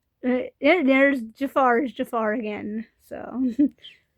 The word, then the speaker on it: Jafar: I've heard people call him Jafir. His name is pronounced Jafar like Disney's Aladdin Jafar.